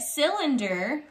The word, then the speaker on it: cylinder: do you think cylinder it sounds like it starts with an s right but cylinder actually starts with a soft c so here's how you